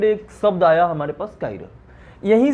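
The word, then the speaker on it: chiral: इसको प्रोनाउंस करते हैं बेटा, ठीक है, काइरल। बाकी चिराल चाइरल मत बोला, ठीक है।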